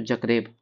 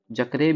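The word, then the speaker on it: Zagreb: Croatia का बात करें तो जक्रेब। जकरेब या बहुत कोई जगरेब भी बोलता है इसको जगरेब ठीक है तो उच्चारण करने का अंतर हो जाता है हम जक्रेब बोलते हैं बहुत कोई जगरेब बोलता है करेंसी है कूना कूना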